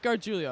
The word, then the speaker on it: Gargiulio: Bright gives it to Mike Gargiulio. Is that how you say his last name? Mike Gargiulio, I believe is the correct pronunciation. You had it there.